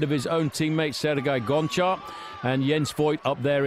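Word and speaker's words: Gonchar: himself actually calls himself goncha and he would like us all to accept that I think it's the way you pronounce the G in his language it sounds like an H but there we are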